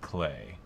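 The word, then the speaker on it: Klay: the K and K Thompson is for clay pronounced clay h i pronoun I prefer killer in kind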